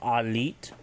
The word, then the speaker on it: aliit: If you want to say family, it's Alit, ALIIT, Alit.